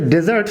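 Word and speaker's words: dessert: এখন একটি বিষয় খেয়াল করবেন, আমরা কিন্তু এই যে মিষ্টান্ন জাতীয় খাবার, এই খাবারটাকে প্রায় বলি ডেজার্ট, কিন্তু আসলে এটা ডেজার্ট উচ্চারণ হবে না, হবে ডিজার্ট, এবং মরুভূমির উচ্চারণ হবে ডেজার্ট।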